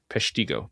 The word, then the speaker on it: Peshtigo: about it, but I don't know how to spell it. P E S H I T. I think I added it. Pesiggo.